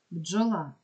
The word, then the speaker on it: бджола: рядок будинок звук д бджола Дж позначає один звук Дніпро звук дь бо